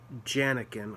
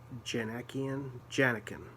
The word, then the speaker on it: Djanikian: a guy named gregory janniken i think that's how it's pronounced jenna janekian yeah um with a d and a j at the beginning the d is silent which is cool because